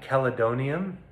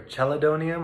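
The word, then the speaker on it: chelidonium: one is an herb called caledonium or cheledonium i think it's pronounced calidonium that's a liver tonic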